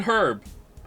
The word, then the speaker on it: herb: __ ] and Herb you have to say herb man not herb like they do and its weird it really it really is really is Herb is how you pronounce it though no it has a H in it first letters can't be silent I will hear no